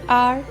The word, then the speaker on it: hour: This is because these words begin with a vowel sound, as the initial consonant H is silent and is not pronounced. So the article an is used before these words like an hour, an honest man, an air.